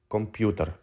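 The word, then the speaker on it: комп'ютер: this is how you say computer in Ukrainian computer let's review the letters of this group one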